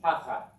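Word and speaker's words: תַּחַת: And finally, this accent on the first syllable, repeat after me. Tachat.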